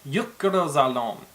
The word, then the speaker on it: Jökulsárlón: probably one of the harder ones to say, Jökulsárlón.